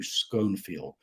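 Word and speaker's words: Schonfield: for that I think he pronounced his name Hugh schoenfield uh when I was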